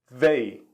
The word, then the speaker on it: they: que nós vamos pronunciar quando nós temos o th em inglês nós vamos colocar a língua atrás dos dentes e vamos dar uma sopradinha forçando a língua contra os dentes assim véi véi véi certo então a